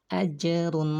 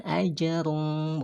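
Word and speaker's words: أَجْرٌ: hisaba and hisaba toh ajrun woi rumah Mun ajrun Wow ajrum Euro bukan ajar-umb bukan juga ajrum Tapi bacanya jelas mulutnya dan pendek ageru Hoi rumahmu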